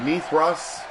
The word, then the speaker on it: Mithras: It is pronounced Mithras in the history books or in the mythological stories. I will say Mithras, okay?